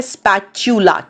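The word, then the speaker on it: spatula: स्पैच्यूला, उच्चारण है स्पैच्यूला, च स्पैच्यूला।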